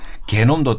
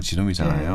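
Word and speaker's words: genome: 원래 보면은 게놈도 독일은 게놈이고 영어는 지놈이잖아요.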